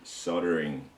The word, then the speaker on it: soldering: I don't know what it is that you guys in the States and Canada say soldering when it's got an L in it. I find that really strange. Okay. Yeah. It seems to be a silent L for you guys.